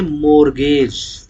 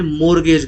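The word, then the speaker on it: mortgage: T silent होता है मोर्गेज में, देसी में अगर समझोगे तो मोरटगेज।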